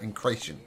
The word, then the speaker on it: Incration: Incration, like creation you said before, right? Incration.